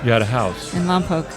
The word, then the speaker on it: Lompoc: Lompoc. Mm-hmm, that's how you pronounce it.